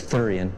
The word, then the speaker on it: thurian: his Infamous thurian guard that's thurian pronounced like sewer only with a lisp has stepped up its